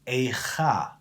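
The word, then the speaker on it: איכה: Aleph, Yud, Kaf, He, the word is pronounced as Eicha.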